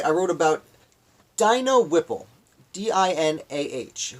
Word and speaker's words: Dinah: The next day, on Tuesday, I wrote about Dino Whipple, D-I-N-A-H, who I believe is pronounced Dinah.